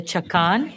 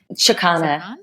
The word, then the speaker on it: chakana: The two things, the intention bands and the chakan, the Andean cross. Is that how you say it? Chakana.